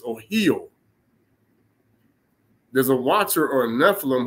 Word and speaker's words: Ohio: where it comes from the correct way you pronounce the name Ohio is Oho there's a watcher or